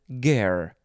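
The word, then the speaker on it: guerre: get that r sound then de and then ger spelled g-u-e-r-r-e noun from 1915 a french military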